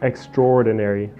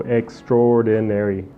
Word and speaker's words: extraordinary: okay for Extraordinary but it's really pronounced extraordinary almost like there's no a so extraordinary next we have yukihan